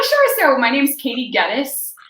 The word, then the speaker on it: Geddes: So my name's Katie Geddes. I tell the kids it rhymes with lettuce, but most of them call me Miss.